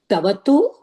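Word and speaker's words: क्तवतु: Ta naadu kakara is not pronounced. So tavatu and ta, they are used with all the dhatus.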